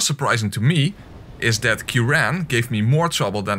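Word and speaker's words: Ciaran: to me is that Kiran gave me more trouble than notorious and what might be surprising to you is that that's in fact the correct pronunciation human why have you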